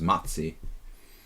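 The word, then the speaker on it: Maci: bear in Hungarian is matzi, and that's why it reminds me of... I'm saying matzi. Matzi, M-A-C-I, in Hungarian is like a teddy bear.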